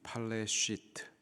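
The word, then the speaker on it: פלשת: 이 블레셋의 히브리식 발음이 팔레시트, 여기에서 팔레스틴이라는 단어가 유래가 되었죠.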